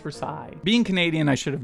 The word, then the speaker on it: Versailles: it is pronounced Versailles it is a place and I believe France so it is pronounced for side being Canadian I should